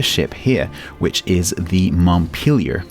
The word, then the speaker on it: Montpelier: here which is the Montpelier to give it its correct American pronunciation which of course is a town in Vermont I confess I've been pronouncing it Montpelier up to now until